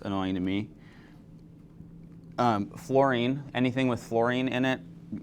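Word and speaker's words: fluorine: It's not flowering, it's florine.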